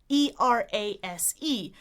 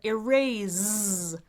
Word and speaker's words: erase: One person said E-R-A-S-E, but erase, which is fine if you're speaking British English, but Americans say erase with an S like a snake rather than a Z like a zebra.